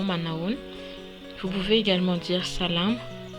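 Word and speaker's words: Manao ahoana: jour là noun manhunt s'écrit comme ceux ci comme vous pouvez le voir si un peu compliqué à l'orthographe mais mais ce style tout simplement manawan vous pouvez également dire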